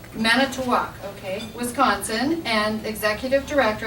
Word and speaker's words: Manitowoc: Manitowoc. Manitowoc, okay, Wisconsin, and executive director at Santa Barbara Maritime Museum.